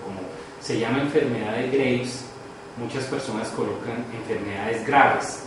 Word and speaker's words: Graves: se llama enfermedad de Graves, muchas personas colocan enfermedades graves, ¿no? Pero no es graves, sino Graves, es el apellido de...